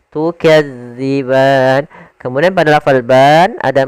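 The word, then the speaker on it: تُكَذِّبَانِ: Hati-hati dalam melafalkan huruf dal karena di sini bukan huruf za. Jangan tukazziban tapi dia tukadziban.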